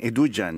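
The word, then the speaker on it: Edugyan: De padres ganeses, ella tiene 40 años, Eduguian, sí. Pero le pronuncian Eduguian.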